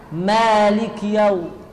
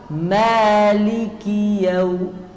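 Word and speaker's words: مالك: seperti sukun karena ada ya Malik yang benar Maliki Maliki yaumiddin ya ya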